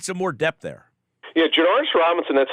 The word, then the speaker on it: Janarius Robinson: Yeah, Janarius Robinson, that's how you pronounce it, by the way.